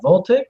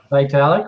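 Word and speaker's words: Vitalik: what that V and I always pronounce his name wrong the ethereum guy voltic V vitalic vitalic right didn't he publicly come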